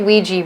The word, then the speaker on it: Ouija: When we say Ouija board, why do we pronounce it Ouija board when it's spelled with an A at the end, not an I at the end, right?